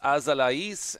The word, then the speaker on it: Azalaïs: That name is pronounced Azalaïs, and that is what the umlaut designates.